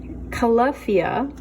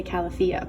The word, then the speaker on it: Calafia: milk first but calafia let me see pronunciation key calafia I used to say California but they have these